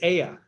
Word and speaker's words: Ea: aya earth ea a e is pronounced a a is pronounced ah so e a is aya and that is the